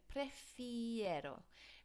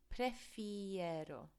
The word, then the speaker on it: prefiero: top with our opinions so prefiero repeat after me prefiero okay i before e lots of students misspell